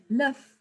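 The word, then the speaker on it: l'œuf: egg no no no this also sounds like you've got a bit of a silent letters there so luff just sounds like luf and it's got a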